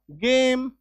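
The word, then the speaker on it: game: बाद एम है ना लास्ट में इ है इ को कट कर दो ठीक है ए बन गया एककार की मात्रा जी से बन गया ग और एम से बन गया म ग ए म गेम आई बात समझ में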